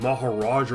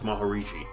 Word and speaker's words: Maharishi: His name's hard to pronounce. I would I would have I just I just thought Maharaja or something like that. But no, it's Maharishi.